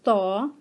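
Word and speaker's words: ط: And Toy will be pronounced as Taw, and Zoe will be pronounced as Zaw.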